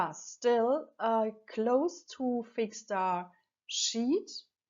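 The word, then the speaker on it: Sheat: Still in July, Saturn is still close to fixed star Sheet. It's spelled S-H-E-A-T, and Sheet stands for extreme loss and for sorrow and pain, and also for things like grief.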